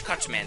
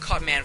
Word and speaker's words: Cut Man: the boss rush anyways here's cutsman stage or cutman stage I'm sorry I'm so used to gutsman having this at the end that sometimes I pronounce cutman cutsman but anyways here's cutman